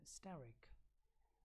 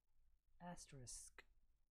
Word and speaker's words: asterisk: The correct word for this symbol, for this sign or symbol, is not steric. It's asterisk. Asterisk.